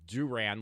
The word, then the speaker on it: Duran: It's Duran, like, Duran, the band. It's spelled the same way.